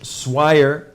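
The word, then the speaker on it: Swier: friend Lieutenant Colonel retired Rich swi rhymes with wire right there uh is the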